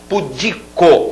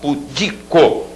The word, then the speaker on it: pudico: e a sílaba tônica pudico e não publicou como muita gente fala pudico barbaria Falar i.a.